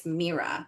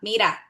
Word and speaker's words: Meera: I don't know what you how you guys are pronouncing it, but I'm Latina, so it's Meera. Mera. Mera. Like, look.